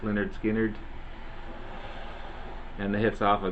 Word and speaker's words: Lynyrd Skynyrd: awesome album great southern rock band Lynyrd Skynyrd's pronounced Lynyrd Skynyrd and the hits off of this one you've